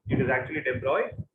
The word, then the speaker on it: de Broglie: It is actually de Broglie. DE-BROY. That is how it is pronounced.